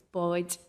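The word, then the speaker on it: báid: If you want more than one boat, it's boyd.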